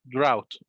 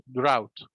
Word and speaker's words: drought: because of drought drought as we said gh in the middle of the world delete it skip it drought drought okay drought means no